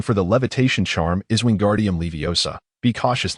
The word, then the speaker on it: Wingardium Leviosa: You mispronounced the ending of the incantation. It's Wingardium Leviosa.